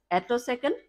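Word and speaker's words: attosecond: techniques to generate a autoc second light pulses uh the exact pronunciation is atoc light pulses so let me first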